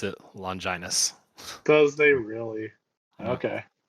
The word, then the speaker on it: Longinus: For what it's worth, just went back to the episode, and Fuyutsuki does pronounce it Longinus.